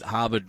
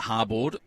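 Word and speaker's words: Harbord: to the YouTube and Peter CER said harbard rhymes with surfboard so apologies to everyone at hardboard I'll do better I'm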